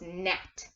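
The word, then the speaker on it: gnat: the G silent so if at the beginning of the word you see a G and an N know that the G is silent it doesn't say anything you can see it but it doesn't say anything okay so it's net alright let's take this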